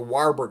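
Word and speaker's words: Warburg: The main cause of cancer is the Warberg effect. Varberg effect you can pronounce it.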